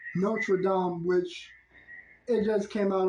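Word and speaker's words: Notre-Dame: movie it's like not only that I accidentally mispronounced nraam and I end up saying Notre Dame but that's because I heard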